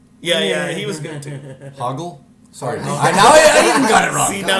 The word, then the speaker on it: Hoggle: It was Hoggle. Hoggle, yeah, because Yeah, they get his name wrong a lot.